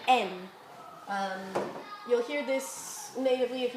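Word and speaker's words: 円: We normally will say yen when we pronounce it with that y, but actually it's best read en.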